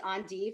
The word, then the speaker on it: endive: is um this is on div or endive you can pronounce it either the french way which i prefer or the american way some of you may